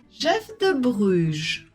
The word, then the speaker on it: Jeff de Bruges: description on continue écoute et répète la bonne prononciation la durée la durée Jef de Brugge Jef de Bruges Paul Paul prête à manger prête à